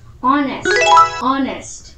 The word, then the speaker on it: honest: Jadi kalau ini mah Honest. Nah, jangan kayak gitu ya teman-teman. Bacanya kayak gini, honest.